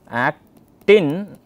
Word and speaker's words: actin: remember which is which act in is thin then the other one is thick and myosin stick so acting rhymes with thin okay that's how you